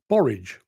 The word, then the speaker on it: borage: would be seeds for the borage plant borage yeah yes possibly the only thing that rhymes with porridge I stand to be